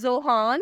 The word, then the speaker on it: Zohan: The next one is जोहान। Spelling है ZOHAN।